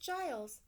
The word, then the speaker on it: Giles: for help it's pronounced Giles rhymes with miles how can I help you there's a monster in my closet and what's the problem the monster is the problem that day Giles told me something I